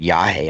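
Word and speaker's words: yagé: So they call it yahe, I think, too. It's they call it it's spelled YAGE.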